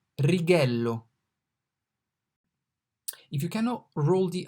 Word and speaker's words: righello: So rather than rolling it, righello, we could say as R in rock, righello. It sounds pretty similar. So if you can roll the R and say righello, that's fine.